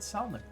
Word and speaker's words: salmon: tried some of our dried salmon. They go perfect with a nice cold beer, too. But as fresh as can be. Woohoo. Thank you. I love pronouncing the L in salmon.